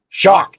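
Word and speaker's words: Shough: being a quarterback Tyler so Tyler saw shock shocked you'd be shocked on how it's pronounced it's shock it is very shocking how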